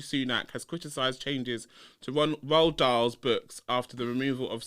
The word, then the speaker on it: Roald Dahl: it wrong, but it's Ronald Dahl. Roald Dahl, everybody. Roald Dahl. Ronald Dahl. Why are you saying Ronald? It's not fucking Ronald.